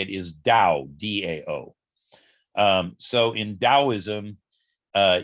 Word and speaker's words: Dao: something known as the dao and by the way just to be clear i'm saying it with a d sound because that's the proper pronunciation but it's usually